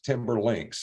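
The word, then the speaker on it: Timberlinx: name of a particular kind of connector and it's spelled t-i-m-b-e-r-l-i-n-x timberlinks and you can look that up online and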